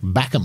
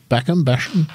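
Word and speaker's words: Bachem: He's the defending champion, Nick Backham, I think it would be pronounced, B-A-C-H-E-M, from Germany. Backham.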